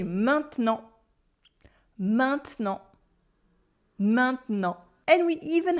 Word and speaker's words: maintenant: same word, like in maintenant. maintenant, which means now with the silent T at the end. There is a sound at the beginning, main, main, main. And then we have a en right after.